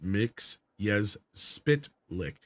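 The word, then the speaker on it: Mxyzptlk: Superman the animated series taught us that mits yes spit lick is pronounced mix yes spit lick yes I I vaguely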